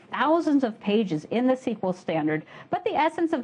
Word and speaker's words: SQL: Is it SQL or is it SQL? My friends in industry tell me that SQL is the in pronunciation, so that's the one I'll be using.